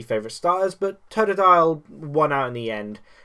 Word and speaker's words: Totodile: It's Totodile, not Todile. I'm not sure why I keep pronouncing it Totodile then, but it's Totodile.